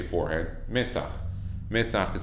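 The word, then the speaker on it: מצח: Metzach. Metzach is spelled Mem, Sadi, Chet.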